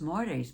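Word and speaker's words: Māori: And pretty soon, he said they had, I don't know how many thousands of people, and not just Maoris, but white New Zealanders stood up with the Maoris.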